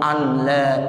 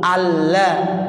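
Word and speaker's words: أن لا: Tuh jadi asyhadu alla, nggak boleh anla.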